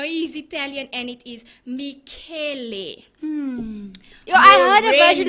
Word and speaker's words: Michele: And I googled how do you say his name because we know he's Italian and it is Michele.